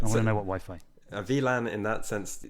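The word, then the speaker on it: WLAN: it VII no it's not it's it's uh VLAN which is w V is like a w that's German pronunciation so if someone goes into a bar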